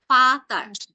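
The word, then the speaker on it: Vater: এরপরে শব্দের শেষে যখন এ আর একসাথে বসবে তখন এটার উচ্চারণটা হবে হচ্ছে আয়ের মতো। যেমন এটাকে আমরা কি বলবো? ভি কে কি বলা হয় জার্মান ভাষায়, কেউ একজন বলুন তো। ফাও। হ্যাঁ, ফাও। তো এটার উচ্চারণটা কি হবে? ফাতার। তো লাস্টে এ একটা কি হয়ে যাবে? আয়ের মতো উচ্চারণ হবে, ফাতা।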